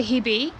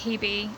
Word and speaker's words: Hebe: So I say it Hebe, and Phoebe rhymes with Hebe, so her name's Phoebe.